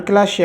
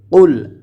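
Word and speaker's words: قُلْ: এখানে আমরা অনেকে পড়ি কুল কিন্তু কুল যদি পড়ি তাহলে ভুল হয়ে যাবে এখানে পড়তে হবে কুল কফ হরফ টিকে জিহ্বার গোড়া তার বরাবর উপরে তালুর সঙ্গে লাগাইয়ে উচ্চারণ করতে হবে কফ কফ লাম পেশ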